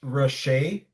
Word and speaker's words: Hrasche: So my name's Hrasche. That's the actual pronunciation from ScaleOperate. All right, buddy, you got I it. know it's a Slavic name changed into German language.